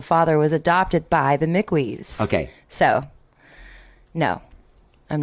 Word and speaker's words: Mickwee: okay good good it's mickey it's like i guess who is who is it that says it is it someone like kevin connor or someone says it half of the people that say my name say it wrong okay but that's okay